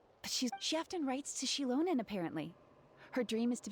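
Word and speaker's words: Xilonen: Shilonen, not Zealonen.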